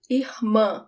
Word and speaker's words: irmã: Sister, irmã. The emphasis is at the end.